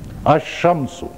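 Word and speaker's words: الشمس: अश्शम्स में लाम जो है ये साइलेंट है, अलिफ जाके पहले हर्फ पर मिला है। यूं देख लें, असल में लफ्ज क्या था? शमसुन। इस पर जब लाम तारीफ दाखिल हुआ है, लाम तारीफ का मतलब ये अलिफ और लाम, तो शम्स पर जब दाखिल हुआ तो लाम साइलेंट है, अलिफ जाके मिला है शीन में, अशम्सु।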